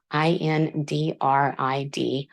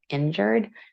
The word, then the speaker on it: Indrid: on this night was his first name indrid i-n-d-r-i-d I've heard people pronounce this as injured so I'm not sure what the pronunciation from the space man is supposed to be but I'm going to call him indrid this November kill was